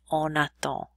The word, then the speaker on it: on attend: And with that little symbol with the little baby N on it simply tells us that we must pronounce the N more forcefully. We don't write that. We just simply say on attend as opposed to on vend. We almost don't hear that N at all.